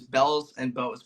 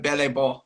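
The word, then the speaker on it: Belles et Beaux: Spanish, not French, but my group name in Plainfield is Bells and Bows, which is an incorrect pronunciation, but the name is French. So we just stuck with it being wrong. But we've had some announcers say it correctly.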